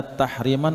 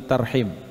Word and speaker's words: tarhim: Ini sebenarnya dua istilah yang mestinya ketika kita baca itu bukan tahriman tapi tarhim, bukan tahrim tapi terhim. Tapi mungkin karena lebih enak bagi kita, kita bacanya tahrim.